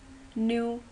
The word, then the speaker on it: knew: New, K is silent.